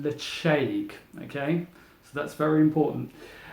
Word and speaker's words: Ledaig: painted it's actually a written lady but it's pronounced the shake okay so that's very important as you can